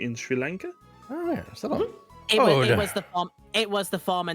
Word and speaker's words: Ceylon: It is pronounced Ceylon. It's actually a country in Sri Lanka. Oh yeah, Ceylon.